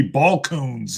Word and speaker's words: Balcones: And for their name, they like to call it bulk cones. That's a double C, double hard C in there. Bulk cones. Right. I guess it'd be ball cones is what they would prefer. Yeah, ball cones.